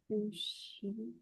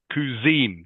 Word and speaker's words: cuisine: Sushi. Okay, it's pronounced cuisine. Cuisine. Can you say that, please, Leon? Cuisine. Cuisine. Cuisine. Cuisine. Good. Cuisine. French, of course.